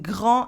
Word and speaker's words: grand: Un grand and then a en sound in grand and the D is silent.